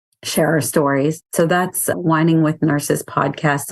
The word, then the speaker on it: Wining: our stories so that's whining with nurses podcast is spelled w-i-n-g it's the wine yeah it's the wine not the wine yeah and you can